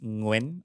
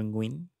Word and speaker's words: Nguyen: ah Sinearch ko ngayon yyung nguan ah is pronounced ngen or ngn parang gan parang one one syllable lang siya